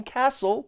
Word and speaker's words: castle: And notice that T is also gone in castle because it comes between two consonants.